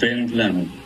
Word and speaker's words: Wendland: ¿Y cómo se pronuncia correctamente Wendland? Wendland. Wendland. Wendland. ¿Como si fuera B de burro? Así es. Ah. No, como si fuera V. Wendland. Wendland. Okay. Wendland. Sí. Entre F y B. Wendland.